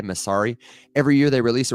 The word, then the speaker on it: Messari: there's a company called Messari, spelled like mess, like man, that's messy, A-R-I, Messari.